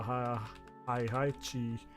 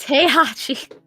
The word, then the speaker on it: Heihachi: He is the Hi-Chi. Heihachi. Yes. It's pronounced Heihachi.